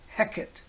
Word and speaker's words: Heket: of spelled h eq et either way it's pronounced Hecate heck it is a rather different sort of